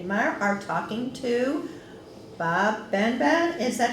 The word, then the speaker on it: BenBen: and myself judy meyer are talking to bob ben ben is that how you pronounce your last name right can you spell